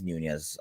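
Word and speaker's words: Núñez: says nope ain't happening and let me not butcher the name anymore uh yeah it is nunez i was like am i having a brain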